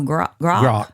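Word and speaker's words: Grok: It rhymes with spock. Oh grock.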